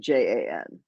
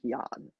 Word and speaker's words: Jan: is name is spelled j an which in Italy would be pronounced like Yan right but like none